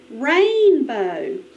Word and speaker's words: rainbow: Next word. Rainbow. Rainbow. The accent is on the first syllable.